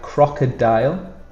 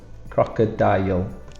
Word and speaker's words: crocodile: So we have crocodile. The problem here is the end, D-I-L-E, and we pronounce it dial, crocodile.